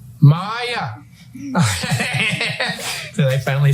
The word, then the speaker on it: Maya: Maya.